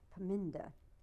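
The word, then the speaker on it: Parminder: your star um and if you would please pronounce her name for me a piminda nagra paminda okay nagra was she a soccer player all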